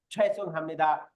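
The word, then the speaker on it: 죄송합니다: কিন্তু কোরিয়াতে আপনার জন্য বিন্দু মাত্র কারো কোনো সমস্যা হইলে সে বলবে জয়সুং হামনিদা, ছয়সুং হামনিদা। এই জয়সুং হামনিদাটাকে অনেকটা ছিউতের মতো উচ্চারণ শুনবেন, ছয়সুং হামনিদা এরকম শুনতে পারেন।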